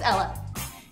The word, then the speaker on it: Ella: My name's Ella. It's pronounced like it's spelled. E-L-L-A. Well, unless you're Spanish.